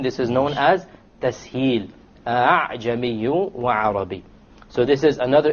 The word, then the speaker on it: أَعْجَمِي: Now notice, أَعْجَمِي, you notice that the second hamza typically would have a dot on it. To show you, you don't pronounce it as a hamza. You don't say أَعْجَمِي. Rather, you pronounce it as follows. أَعْجَمِي. أَعْجَمِي. You don't pronounce it a full hamza, and you don't pronounce it as an alif, full alif. It is in between.